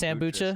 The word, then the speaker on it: Sambucha: So it is Sambucha? So it's like, okay. It's a good combination between kombucha and then Sambuca, but I didn't even know kombucha was really a drink until I found out.